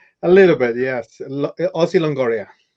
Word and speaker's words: Ozzy Longoria: a little bit yes aussie longoria longoria is italian i i i'm gonna